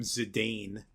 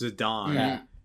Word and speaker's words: Zidane: Look, I I had I had a tough time in my life when I had to stop calling him Zidane. It turns out it's Zidon.